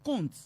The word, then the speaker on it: compte: langue française est que la lettre P ou le son POR du mot compte et ses dérivés, compter, comptage, escompter, escompte, escompteuse, escompteur n'est pas prononcé.